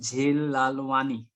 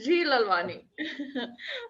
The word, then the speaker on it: Jheel Lalwani: Good afternoon, Miss Jheel Lalwani. Am I Yes, pronouncing? you're right. That's Jheel Lalwani.